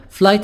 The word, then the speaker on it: flight: de madera in most elegant arathi share flight attendant flight attendant GH silent flight attendant judge person